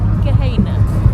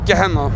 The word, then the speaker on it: Gehanna: Is that how you pronounce it? Gehanna. No, Gehanna.